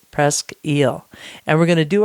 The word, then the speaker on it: Presque Isle: Presque eel Farm cider now if you saw the name of this cidery out there in the world you might want to pronounce it as Presque Isle Farm cider but the locals for the locals it is Presque eel and we're going